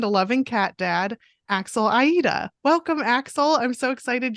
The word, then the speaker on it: Aita: um so I know my name is kind of weird it's it's Aida oh no I said